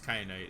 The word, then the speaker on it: kyanite: something i can pick up is that kyanite cryonite how do you pronounce it it is kyanite yeah sure okay well i'm not leaving without